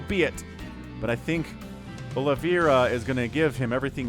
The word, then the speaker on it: Oliveira: of the map uh I keep calling him oliviera but it's Olivia I think is how we pronounce this Oliveira my brain is gonna